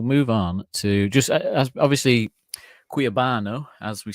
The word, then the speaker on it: Cuiabano: Yeah, we'll move on to just obviously Cuiabano, as we say it correctly, apparently.